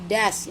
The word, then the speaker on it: does: sehingga kata bantunya menjadi das. Ingat Bu, das, bacanya das, tulisannya does.